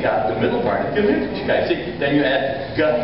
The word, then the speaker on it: Gemütlichkeit: There's one sound that's sort of combined. That's all. It's called the umlaut, the round sound. Now, how do you make a round sound? Well, it's in Gemütlichkeit.